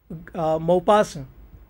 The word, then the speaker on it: Maupassant: not supposed to speak to this is how mopass was and is its utterance and pronunciation guy d maupassa was a french soft